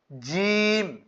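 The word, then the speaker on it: جيم: করে তেলাওয়াত আমরা করতে পারবো বা তাছা জিম এটা জি হবে এইযে দুই দাতের ফাকা রেখে বলতে হবে অনেকে জি এরকম বলে এটা না জিম এটাকে বলে হলক এইযে এই জায়গাটাকে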